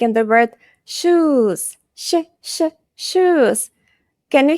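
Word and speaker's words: ш: Sh. Like "shrimp". "Shrimp". Sh. Like in the word "shoes". Sh, sh, sh, "shoes".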